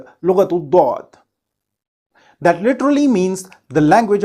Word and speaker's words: ض: Lughatul Dwad.